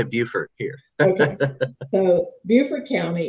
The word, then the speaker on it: Beaufort: the lowest prevalence is, I always pronounce it Beaufort. Is that correct? How do y'all pronounce it? We say Beaufort here in South Carolina, but I know that's how our North Carolina neighbors say it. Yeah, well, being from Louisiana, BEAU is Beau.